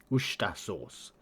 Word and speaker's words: Worcestershire: Worcestershire sauce. Or Worcester. You don't really pronounce like the T-R-E. So it's just Worcestershire sauce.